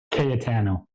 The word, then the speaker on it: Cayetano: Katano.